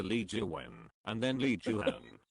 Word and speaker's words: Jooheon: jiwen and then lee jooheon like many many people said like j-o-h-e-e-o-n like pronounces like chan so h-e-o-n and the right right pronounces han han like no hundred like hand honey i'm sorry you